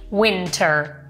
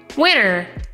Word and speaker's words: winter: di Winter Winter che si può dire in due modi La prima è pronunciando la T Ok quindi Winter Win Winter il secondo modo è non pronunciando la T Prova a dirlo tu come prova a dire tu la parola Winter ma senza pronunciare la T Winner yeah Esatto Praticamente